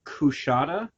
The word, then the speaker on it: Coushata: I believe it's Kushata. It's spelled Coushata. Huh.